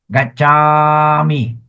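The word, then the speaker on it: gacchāmi: Gachami. Okay. So the A has a long A there.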